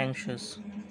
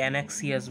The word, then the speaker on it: anxious: 12 ধরো দিলাম brave, 13 happy, 14 14 কী দেওয়া যায় ধরো দিলাম অ্যাংশাস। বানানটা একটু তোমরা দেখে নিও, ANXIOUS, অ্যাংশাস। ওকে, অ্যাংশাস, অনেকে অ্যানাক্সিয়াস বলে, ঠিক আছে, ওটা অ্যাংশাস। ওকে, 15 ডিফিকাল্ট দিয়ে দিই।